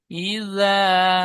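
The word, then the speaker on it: إِذَا: এই জাটা জাল বলবেন হালকা ভাবে, ই যা জিমের মতো উচ্চারণ হয়ে যাচ্ছে। ইজা, إذا যে হবার আগা, সামনে উপরে দুই দাঁতের আগার সাথে মিঠে গিয়ে উচ্চারণ করবেন। ইজা ওয়াকাব।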